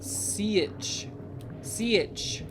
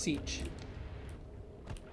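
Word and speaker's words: Sietch: SI is oh hello SI is apparently pronounced C si in the books according to Mr Herbert I don't like it I wish it was just Siege that's what they did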